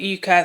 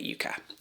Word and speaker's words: Yucca: She's pronouncing it yucca, so that's why I'm pronouncing it yucca.